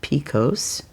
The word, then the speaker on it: PCOS: Polycystic ovarian syndrome, often shortened and pronounced picose, is a hormonal condition